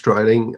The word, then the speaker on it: Dreiling: Am I pronouncing it right, Alex? Dreiling?